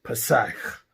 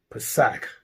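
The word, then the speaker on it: פסח: And in the lexicon, the Strong's pronunciation is Pesach. Pesach.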